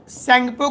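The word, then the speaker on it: Tsangpo: Indo सैंगपो का spelling T से शुरू होता है, सैंगपो फ्यूचर जोन ITSZ, जहां पर लगेगा कि धागा से सिलाई किया हुआ है दोनों चट्टान।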